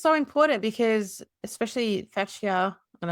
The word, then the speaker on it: fascia: Well, I think it's so important because especially fatia and I don't know if I'm saying it correctly, but this Yeah, you are. Fashia. Fascia. Okay, perfect.